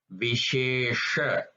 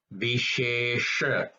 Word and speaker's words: Vishesha: So for example, here This word is Vishesha. Vishesha. If you notice that second sha is a little bit rolled, you roll your tongue and you say that. So it's Vishesha. Vishesha. It's a slight distinction, but there is a distinction in that.